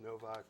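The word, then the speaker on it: Nowak: the wonderful Michael Novak whose name is spelled with a W but it's pronounced Novak Michael is a gardening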